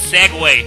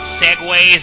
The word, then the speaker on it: segue: But the word S-E-G-U-E is actually pronounced Segway.